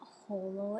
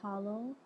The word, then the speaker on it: Hollow: I found out that it is not Holo it is hollow I think I heard